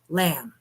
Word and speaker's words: lamb: Or if you do it with a small I, it spells L-A-M, lamb, without the B because the B is silent.